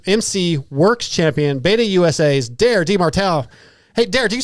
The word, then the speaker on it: Demartile: Tonight, Guts Racing brings us the 2025 Pro 450 Motors MC Works Champion, Beta USA's Demartile. Hey, do you say Demartile or Demartile? Demartile. Okay, cool. That's how it's spelled.